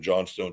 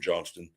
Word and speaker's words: Johnston: Jim how did this is it Johnston or John Stone both okay um because I just